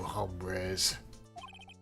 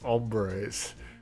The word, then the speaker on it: hombres: tango tango with you hombres the H is silent it's not sounding my